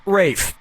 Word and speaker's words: Ralph: Player three, yep, Rafe Fine's first name is spelled like Ralph but pronounced Rafe.